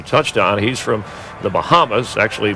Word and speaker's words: Bahama: He's from the Bahamas, actually pronounced Bahama, North Carolina.